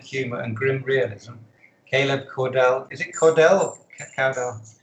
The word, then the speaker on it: Caudell: Told in a unique double narrative form with sardonic humor and grim realism, Caleb Caudell, is it Caudell or Caudell? It's Caudell, yeah.